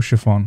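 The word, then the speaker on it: Haurchefant: your kind words lord orshfong or chiffon that's how you pronounce it okay it is true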